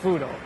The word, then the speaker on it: Fuudo: But if you know Japanese, like the katakana spelling, it's just easier to say, the pronunciation becomes Fudo.